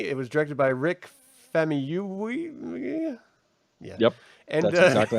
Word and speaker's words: Famuyiwa: It was directed by Rick Famuyiwa. Yeah. Yep. And that's exactly how it's pronounced.